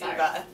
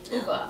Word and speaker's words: Ove: O-V-E, it's really hard to pronounce. Apparently it's Uva. Uva.